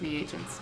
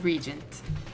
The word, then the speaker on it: reagents: variety of lethal chemicals oh it's pronounced reagents my bad i was talking about the name apparently the name regent whoops it's reagents and that's where the